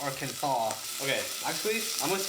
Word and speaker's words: Arkansas: She was like, "Why is it spelled R Kansas, but it's pronounced Arkansas?"